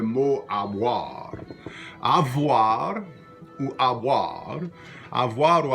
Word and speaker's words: avoir: It's pronounced avoir. And in Louisiana French and in Old Acadian French as well, sometimes that V sound gets dropped and becomes something like avoir.